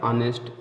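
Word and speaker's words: honest: कुछ शब्द ऐसे हैं, ज़्यादा नहीं, कुछ ही शब्द हैं जिसमें शुरू में एच आने पर साइलेंट होता है, इसको आप याद कर लिए। आवर है, एयर, एयर मतलब उत्तराधिकारी होता है, ऑनेस्ट, ऑनर आदि में भी साइलेंट रहता है, ठीक है।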